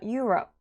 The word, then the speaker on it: Europe: 앞에 빨간색에다 강세 주셔야 돼요. 자, Europe.